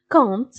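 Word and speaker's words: compte: كونت، اذا هنا بي كنكتبوها ولكن ما كتنطقش، كنقولو مباشره كونت بحال بي ما كايناش، اذا لاتر مي.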